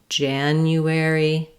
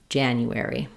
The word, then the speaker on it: January: Break it down syllable by syllable, saying it slowly, but keep the rhythm the same and then speed up. That sounds like January, January, January.